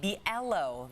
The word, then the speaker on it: Brielle: I'm sorry, I think I mispronounced your last name. Brielle, that is, right?